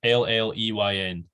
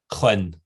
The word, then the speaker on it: Lleyn: So the E is silent. So it's, you miss the E and then it's YN, Sheen. Double L, E that doesn't matter, and a Y that's kind of half pronounced.